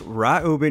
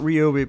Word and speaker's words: Ryobi: it is actually pronounced ryobi correct it's ryobi hey what's up everybody hey my name is fred i just want to let you know that uh it is pronounced right uber not ryobi but listen let's not